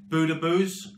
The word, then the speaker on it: Boudebouz: off with Algerian Winger Riad budoo um and believe me that is how you say it I Google translated it